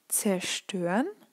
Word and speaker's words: zerstören: So, and then the same goes with prefixes, R, zer, fer, because they're kind of, you have the feeling that kind of a part of the word ends after the prefix, and this is why you don't pronounce it.